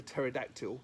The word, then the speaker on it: pterodactyl: Hey Rexy, why can't you hear a pterodactyl go to the toilet? Because the P is silent.